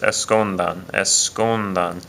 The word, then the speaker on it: escondan: pronounce this word first escondan the stress is over the is over that u right there so it's on the